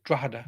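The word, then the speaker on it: Drogheda: at phonetically it's but anybody from Ireland we say drada we drop a couple of the Letters Out um right well I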